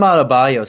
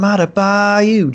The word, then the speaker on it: Adebayo: are CCR fans, but I always think of him in Born on the Bayou, and that's how I say his name, like Bam Adebayo, just like that.